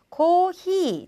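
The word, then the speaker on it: コーヒー: 그 다음 커피는요. 코히. 자, 히라는 발음이 들어갔죠. 좀 특이하죠. 그래서 이 커피는 꼭 외워주셔야 합니다.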